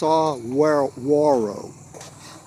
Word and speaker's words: saguaro: into this that's a saguaro cactus s-a-g-u-a-r-o pronounced sawarwaro and uh they are